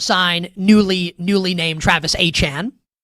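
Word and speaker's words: Etienne: We just saw the Saints sign newly newly named Travis Achan. He wants to go by that's the real pronunciation of his name.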